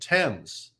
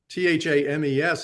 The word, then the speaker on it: Thames: letters in the in the river named tens t-h-a-m-e-s is pronounced Thames and t-h-e-t-c or t-h-a-t-c-h